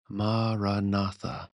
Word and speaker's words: maranatha: for Christian meditation suggests is maraa maratha four syllables that mean come Lord in Aramaic the language that Jesus spoke maraa or whichever word you